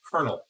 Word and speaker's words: colonel: Okay, yeah, and it's spelled. Okay, so it is colonel.